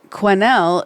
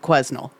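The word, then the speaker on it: Quesnel: Um, Quinnel is a French name and the S is silent, so I must have said Quznel.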